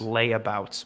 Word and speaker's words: Latavius: pronounced layabouts Murray.